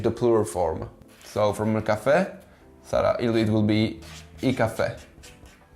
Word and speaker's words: caffè: For example, the word caffè, there's a symbol in Italian called accento, and when this symbol is placed on a vowel, it basically strengthens the sound of it. So we don't read caffè, we read caffè.